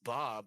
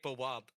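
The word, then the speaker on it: beaux: They'll go, "It's Bob."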